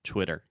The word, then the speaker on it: Twitter: twit ter okay but when you say it fast the second T will be a little bit softer so Twitter perfect okay Theater Twitter